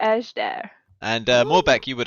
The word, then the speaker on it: Ejderha: it yet sir actually Porter knows how to pronounce it is a sh dair oh yeah we're going to edge there and more back you